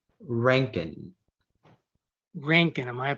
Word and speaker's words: Rankine: The word is Rankin.